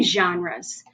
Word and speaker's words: genres: to talk about reading genres this word that starts with a g it's a soft g and it says instead of so this word is genres and genres that's a